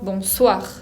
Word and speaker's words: bonsoir: La S puede tener la misma pronunciación que el castellano, como la S de casa, por ejemplo. Acá un ejemplo que podemos tener es la palabra bonsoir.